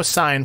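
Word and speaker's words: Sine: You know Sign from our co-op, right? Yes. So a Sign is spelled S-I-N-E, not S-I-G-N, kind of like that's just her name, so that's what it is.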